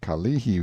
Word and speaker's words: Kalihi: a picture as the Kalihi Valley, pronounced Ka-lihi, stress on the second syllable.